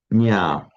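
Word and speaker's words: ज्ञ: Let's take the root nya. Root to know, which we haven't. That's why in English we write it with a K. To know. You speak kna or knor. That reflects the nya, and in Greek gnosis,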